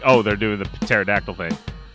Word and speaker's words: pterodactyl: oh they're doing the pterodactyl thing i don't know why i pronounced the p you're not supposed to because you probably read